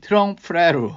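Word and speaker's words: trompe-l'oeil: 이거 어떻게 발음해야 되니? 트렁프레로.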